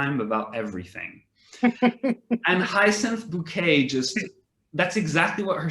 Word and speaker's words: Bucket: she's her surnames she's it's spelt bucket but no no no no no she puts a french tone in there and she's always like no no no it's pronounced bouquet to sound but then the the